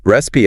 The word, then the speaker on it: recipe: Recipe on the other hand is a set of instructions for preparing food like for baking a cake. Yep. The pronunciation is resi stress on the first syllable.